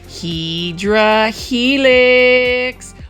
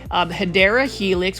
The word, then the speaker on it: Hedera helix: This is your favorite Hydra helix, or the correct way to say it is Hedera helix, which is also known as the English ivy.